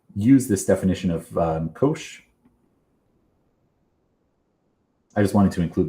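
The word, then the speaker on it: cosh: So the hyperbolic functions, we pronounce these as kosh and shine um or hyperbolic cosine and hyperbolic sign.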